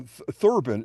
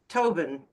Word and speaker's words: Thoben: Now Thurban. Is it Thurban how you pronounce your last name? Tobin. It's a th but you only pronounce the t.